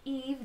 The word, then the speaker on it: Yves: My name is Eve, that's Y-V-E-S, Eve, the S is silent.